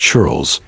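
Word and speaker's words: ceorl: Life for the common people or cher pronounced churles was similar to that of the British peasants.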